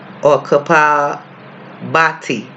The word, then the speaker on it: Kapalbhati: It is called Kapabhati or Kapalbhati. It's spelled Capalbhati.